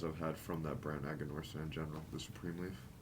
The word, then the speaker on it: Aganorsa: How do you pronounce it? Aganorsa Aganorsa, leaf, yeah.